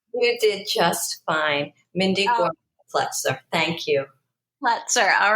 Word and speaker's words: Gorman-Plutzer: Mindy Gorman-Plutzer.